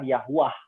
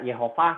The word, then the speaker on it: Yahuwah: Dari mana pelafalan Yehovah? Datangnya itu dari Tritunggal sendiri di tahun 1500. Ya 1500. Dan Yahweh sendiri pelafalan itu datang dari Tritunggal sendiri di tahun 1700. Dulu nggak ada pelafalan yang begitu. Yang paling mendekati adalah Yahuwah. Ya. Nggak ada Yehovah, nggak ada Yahweh gitu.